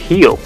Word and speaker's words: Rio: In Brazil, Rio is pronounced as Rio, so Rio de Janeiro would become Rio de Janeiro.